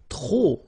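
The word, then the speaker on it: trop: If you want to use tro and tro means too many okay then you will have to put the and the noun without the article. Okay remember too many don't pronounce the final pay the and the noun without the article.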